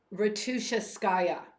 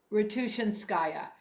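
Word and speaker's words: Ratushinskaya: gray gray is the color of Hope arena roua skaya is how it's excuse me ruian skaya is how it's pronounced gray is the color of Hope and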